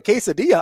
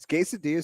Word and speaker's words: quesadilla: Is quesadilla Spanish? Are you being serious right now? Yeah. You know a lot of English words that give you like the double L and it's pronounced like a yeah?